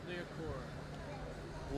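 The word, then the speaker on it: Liacouras: How do you pronounce it? Leocora. Licorice?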